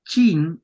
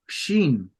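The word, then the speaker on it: שין: sh ok No es chin es Shin Okay trata de pronunciarlo ahí no es chin es bien espeso bien espeso bien grave bien grueso Sí entonces aquí cierto la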